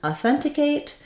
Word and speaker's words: authenticate: authentication the stress is on the k a syllable the second to last syllable let's break them each down in authenticate we have a short uh somewhat reduced a sound here you might even be able to get away with saying this as awah authenticate um the a is uh is okay to be used just don't stress it so that means make it short uh one way to